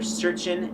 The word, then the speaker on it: searchin': Also, by the way, like yet again, vernacular, searchin', instead of searching, because most people don't say searching, you don't pronounce the G usually, so it's searchin', urchin.